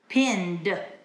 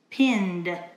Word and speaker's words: pinned: pinned the material yesterday now in this verb the pronunciation is D pinned pinned and future I will